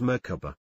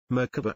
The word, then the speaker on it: Merkaba: It is seen in other cultures as Merkaba, Merkaba and Merkava. There are several pronunciations, but generally you pronounce it as if the three syllables are separate, with equal accents on each.